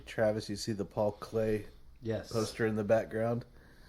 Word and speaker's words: Klee: Hey, Travis, you see the Paul Clay Yes. poster in the background? Art nerds. Not pronounced Klee.